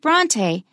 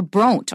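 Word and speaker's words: Brontë: That means you pronounce it as a separate syllable. Without those two dots, if we looked at the name B-R-O-N-T-E, we'd probably say Bront or Bronte or something like that.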